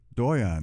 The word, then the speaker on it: Doyon: have in the studio with me today jacqueline doyon did i pronounce that right you got it dr jacqueline doyon who is a professor of criminology at the